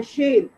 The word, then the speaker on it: शेर: शेर, शाह का pronunciation clear करो आप।